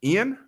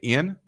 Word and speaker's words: Iain: I think this name is pronounced Ian. It's IAIN. So I'm going to say Ian on Instagram.